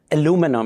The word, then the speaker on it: aluminum: I have used aluminum, and I'm going to use the American pronunciation. I will talk about why there are two pronunciations and spellings in a moment, too.